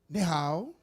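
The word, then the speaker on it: 你好: Ni hao. The Chinese good evening is ni hao. You say ni hao ma.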